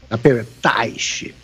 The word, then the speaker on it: Teich: Qual é a pronúncia que nós adotamos aqui? A sua pronúncia está perfeita. Teich, Nelson Teich.